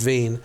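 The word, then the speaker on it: Wien: for the theater under Veen Veen is the actual German name of Vienna WI en pronounced Veen and I was directing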